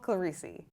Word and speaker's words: Clerici: in the Falmouth and Massachusetts running community, Clerici. Did I pronounce that correctly?